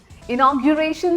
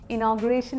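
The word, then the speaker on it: inauguration: हाँ, इनॉग्यूरेशन सेरेमनी है उनकी, इनॉग्रेशन नहीं बोलेंगे ना पक्का।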